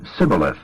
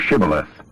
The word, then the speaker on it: Shibboleth: But if he couldn't pronounce the H and said Sibboleth instead of Shibboleth, he was dragged away and killed.